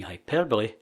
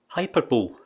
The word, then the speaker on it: hyperbole: than they are and the News presenter instead of saying hyperbole said hyperb so you need to be